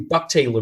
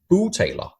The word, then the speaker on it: bugtaler: It's actually bugtaler means ventriloquist in Danish. So I'll just say it's to pronounce it in the right language. It's bugtaler.